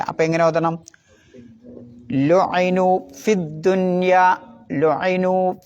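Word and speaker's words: فِي الدُّنْيَا: ഉണ്ടാവില്ല വസിലിന്റെ ഹംസയാണ് പിന്നെ ഫിദ്ദുന്യ അവിടെയാണ് ശ്രദ്ധിക്കേണ്ടത് ഫി നീട്ടാൻ ഒരു യാ ഉണ്ട് പിന്നെ എന്തുണ്ട് ഒരു വസ്ലിന്റെ ഹംസ ഉണ്ട് പിന്നെ ലാം ഉണ്ട് മൂന്ന് അക്ഷരത്തിനും ഉച്ചാരണം ഇല്ല അപ്പൊ എങ്ങനെ ഓതണം ലുനു ഫിദ്ദുന്യ ലുനു ഫിദ്ദുന്യ അവിടെ ഫീ നീട്ടണ്ട എന്നർത്ഥം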